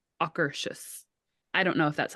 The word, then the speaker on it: Akershus: And somebody, when we were getting seated, said the best way to remember how to say it is say it like soccer shoes. So like Akershus.